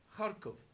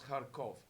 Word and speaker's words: Kharkov: events in harkov uh which is the same as how to give it's a very very flat eye therefore sometimes in English we spell it with an eye and sometimes Kharkov but it's something in between summing in between the two same place why did